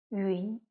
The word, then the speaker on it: 云: 写的时候呢，这 2 个点没有了，所以它发音是一晕云。